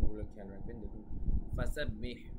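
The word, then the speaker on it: فَسَبِّحْ: করুন নিশ্চয়ই তিনি ক্ষমাকারী ফাসাব্বিহ ফাসাব্বিহ এখানে হ্যাঁ এখন আমরা বলছি কোথায় কোথায় আপনারা উচ্চারণ গুলো খেয়াল রাখবেন দেখুন ফাসাব্বিহ এখানে হা এর উচ্চারণটা ঠিক থাকবে বিহামদি এখানে হা এর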